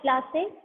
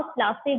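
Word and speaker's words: Plassey: डिड you know how प्लासी गॉट its name? प्लासी इज an anglicised pronunciation of पलाशी, and the place derived its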